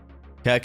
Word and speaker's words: Coke: Kirk is how we pronounce Koke in my hometown.